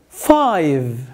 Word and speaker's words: five: One, two, three, four, five. مش five. Five. V. V. Five.